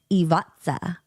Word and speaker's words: Ivica: And that's why apparently, so his name is pronounced Ivatsa because the C is T.